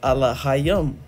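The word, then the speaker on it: אֱלֹהִים: god is actually a plural word right it's pronounced allah yum right which allah being singular which just means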